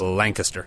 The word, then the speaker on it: Lancaster: It looks like it's Lancaster County, but I think it's pronounced Lancaster. Lancaster, yes. You got it.